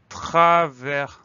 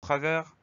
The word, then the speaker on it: travers: Et à la fin, on trouve une lettre muette, le S.